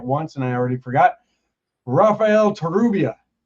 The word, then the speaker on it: Rafael Torrubia: Raphael Terubia.